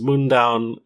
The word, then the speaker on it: Mundaun: this game uh which I'm pretty confident is pronounced mown it's uh named after